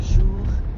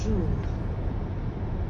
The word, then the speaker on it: jour: And the R at the end of jour doesn't really sound like an English R. You should feel that R in your throat. Jour. Yeah, almost like you're gargling or clearing your throat.